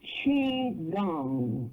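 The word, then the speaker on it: qigong: uh for mind body and spirit and it's pronounced CH gong CH h e e gong but it's it's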